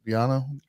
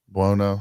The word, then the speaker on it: Buono: I think Biano? Well, no. Buono.